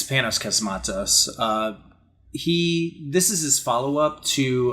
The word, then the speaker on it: Panos Cosmatos: This is the follow-up from, I want to say his name is like Panos Cosmatos, like, yeah, it's Panos Cosmatos.